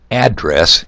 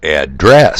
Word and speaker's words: address: Okay, for example, if you stress the first part as in address, it's a place where someone lives. But to address someone is to talk to them.